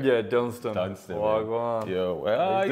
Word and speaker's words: Dunstan: we got my guy Dunstan in the building. I said it right? Yeah, Dunstan.